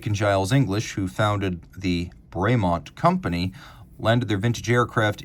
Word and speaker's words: Bremont: you pronounce the name is it braymont or bremont well technically it's bremont because bremont so the legend goes was a French farmer and Nick and Giles English who founded the braymont company landed their vintage